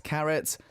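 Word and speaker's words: CARAT: exactly what it means the fandom name is Carrot not as in the vegetable carrot as in like gold carrot you know pronouncing c-a-r-a-t yeah c-a-r-a-t uh the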